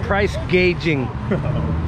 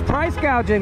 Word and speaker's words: gouging: talk about price gouging she said price gauging she didn't know how to say it but uh she's going to she thinks it's price gouging that's the problem they